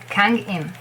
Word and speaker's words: Kangin: It's an A. Always. It's romanized. This is a vowel which is romanized the same as always. A. Kang. Kang, same little circle down there. And Kang. Ang. A. Kang. And nothing. I. N. In. Kangin. It's like very easy. If you just remember that it's not Kang, it's Kang.